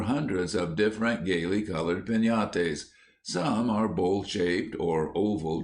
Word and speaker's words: piñata: But everywhere, children would be talking about breaking a piñate, pronounced peñate, as you talk of having a tree.